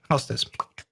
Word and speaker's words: Hau5test: i'm writing houses hau5 but um it was you know two syllables very just memorizable so you could just say how's this easy to recognize and